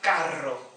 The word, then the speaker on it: carro: Em italiano, este som não existe. Portanto, também neste caso, esta palavra em italiano pronuncia-se carro. Roma, carro. O som é mais forte, é ainda mais forte, porque as R's são duas.